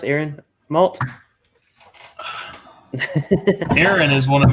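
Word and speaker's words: Arran: cask strength peated aaron i guess it's pronounced aaron malt aaron is one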